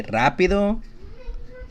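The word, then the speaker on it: rápido: so if you say Rapido at the very beginning the r sound will be a hard sounding R now if you have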